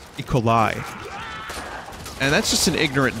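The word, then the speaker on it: E. coli: people taking me serious no it's it's not eat collie I think it's unfair that romaine lettuce gives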